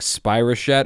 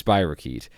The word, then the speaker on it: spirochete: I think I actually mispronounced spirochete earlier in this episode as like spirochete or something. It's spirochete. Getting better, guys.